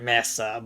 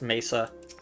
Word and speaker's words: Mesa: to seek his counsel I don't know why I pronounced it Masa but like yeah it's Mesa looking for painted Mesa